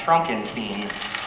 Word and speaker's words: Frankenstein: startled me but that's singing my name is pronounced Frankenstein still pulling my leg um you know I'm